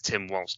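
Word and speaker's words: Walz: I'm calling him Volz because I'm used to pronouncing it quite German. It's probably going to embolden the right a hell of a lot more. They'll become more radicalized and more violent. So far, I've never heard anyone pronounce it Volz. I think it's Tim Waltz, dude.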